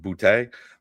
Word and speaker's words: Boutte: You just said his name exactly correctly, because he is from Louisiana, and the fact that you said Boutte, I think is exactly how you're supposed to say it.